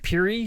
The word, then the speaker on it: Pierre: Denis Saint Denis much like that Pierre is pronounced Puri in North Dakota or Houston is Houston in New York does matter st.